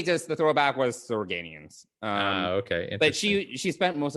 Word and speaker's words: Organians: Organians is how you say it.